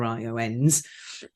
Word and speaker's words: ION: I am, since a few weeks, the global lead of ION Institute of Neurodiversity. So it is spelled ION, but we do say ion as in the molecule, like the smallest that you can be positively and negatively charged.